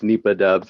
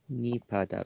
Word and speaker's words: NipahDUBS: Hi, it's actually pronounced NipahDUBS. It's a common error. It's fine. NipahDUBS.